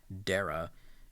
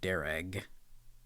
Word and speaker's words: Dara: detail so for example my name Dara is pronounced Darragh according to voiceover defaults and you can actually